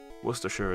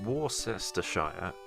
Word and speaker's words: Worcestershire: is a is another worcestershire is an acceptable uh pronunciation but war sister shire is incorrect worcestershire sauce or worcester